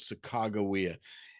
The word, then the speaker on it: Sacagawea: believe the best name the best way to pronounce her name was sakagawea and the thing to keep in mind is